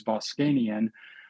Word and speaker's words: Voskanian: Uh, and partially why I went to medical school because my last name is Boscanian.